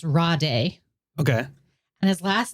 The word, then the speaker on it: Rade: His first name is spelled Rade, and I think it's pronounced Rade.